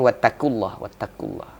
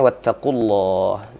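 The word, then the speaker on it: وَاتَّقُوا اللَّهَ: Nah, ini sering terjadi huruf qaf sama huruf kaf ini sering, ya, sehingga bacanya wattaqullah. Nah, harusnya wattaqullah.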